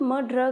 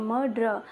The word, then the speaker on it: martyr: आज द मर्डर, इसको pronounce मर्डर करते हैं, मर्डर।